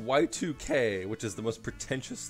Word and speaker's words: YIIK: a really cool detail it is pronounced y2k which is the most